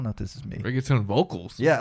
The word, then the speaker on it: reggaeton: It's a reggaeton?